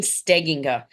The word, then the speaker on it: Stegenga: Colleen Stegenga.